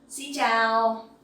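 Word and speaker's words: xin chào: ciao Tao sin down Xiao the X sound you will pronounce like in English like the S sound in English Okay it's like in space so scene and the sound Cho in ciao you can pronounce like in the champion ciao tell uh that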